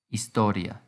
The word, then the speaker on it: historia: is understood interpreta la historia remember the ia is treated as one syllable so the stress comes on the o historia how do we turn